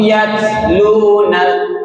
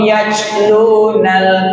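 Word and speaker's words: يَتْلُونَ: Kasih nafasnya. Wahum yatlunal yat gitu. Tapi jangan juga kebablasan jadi yaj. Wahum yajlunal kitab, itu kurang tepat, bukan c.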